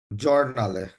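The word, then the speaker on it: giornale: এখন আমরা যারা এখানে সরি, একটু ফ্র্যাঙ্ক করেই বলি, যারা বলছি জিওর না আলে, তাহলে উচ্চারণটা এখন কি হবে? জর্নালে।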